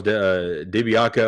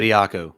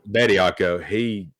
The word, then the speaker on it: Bediako: But I want to give a shout out to Charles DiBiaco. I think I always say his name wrong, but Bediako. Bediako.